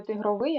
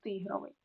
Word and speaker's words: тигровий: золотистий безпринципний тигровий від слова тигр так не тигровий а тигровий ринковий тому що ринок виразний вишиваний не вишиваний